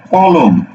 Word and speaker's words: কলম: কি এটাকে উচ্চারণ করো তুমি কি এটাকে উচ্চারণ করো এভাবে উচ্চারণ করো অক্ষর কয়টা দুইটা না কলম অক্ষর লেখা দুইটা না দুইটা অক্ষর দেখো তো তুমি কি উচ্চারণ করছো কলম কলম আমার একখান কলম আছে কলম কলম বলছে না বলছে ক লুম কি বলছো ক লুম